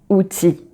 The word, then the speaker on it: outil: So most of the time when you have IL, so you have this longer E at the end of a word. So like gentil, outil. So you just pronounce the E and not the L.